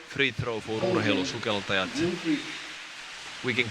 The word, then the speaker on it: Urheilusukeltajat: And don't put it that high, like just the Urheilusukeltajat. Urheilusukeltajat. Yeah. In Finnish language, we don't really have these Up and down. pronunciations which go up and down. It's all plain.